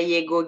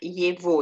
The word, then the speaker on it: его: Tak, kalau ada Yego gitu bacanya Yevo ya. Хорошего большого словаря. Walaupun tulisannya G. Kita bacanya seperti V ya.